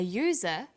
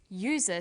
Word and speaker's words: user: an umbrella but a user because user sounds like it begins with a Y ah and an are